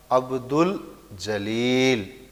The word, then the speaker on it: عبدالجلیل: یہ حرف قمری ہیں۔ جب کسی لفظ پر الف لام لگایا جائے اور وہ الف لام پڑھا جائے تب یہ حرف قمری کہلاتے ہیں۔ جیسے عبدالجلیل، اس کا تلفظ اس طرح ادا کیا جائے گا، عبدالجلیل۔ یہ جو ہم